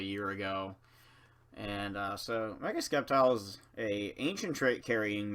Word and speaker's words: Sceptile: And yes, I know the actual pronunciation is Sceptile, I just don't care.